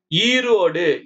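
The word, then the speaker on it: Erode: ஈரோடு ஈ போட்டு RODE போட்டிருக்காங்க. ஈரோடு. நம்ம டபுள் இ போடணும்னு சொன்னோம் இல்லைங்களா? இங்க பாருங்க ஒரு ஈ தான் போட்டிருக்காங்க. அந்தாண்ட பாருங்க ஒரு ஈ வருது எக்ஸ்ட்ராவா. அது சைலண்ட்.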